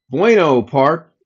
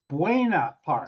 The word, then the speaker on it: Buena Park: to his gym and that was in Bueno Bueno Park. Bueno Park. Bueno. I don't know how you say it. I'm not from California. Bueno. It was what is it? Buena Park.